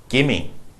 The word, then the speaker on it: gimme: Harvard University number six gimme give me it means give me but we don't pronounce the V give me $5 give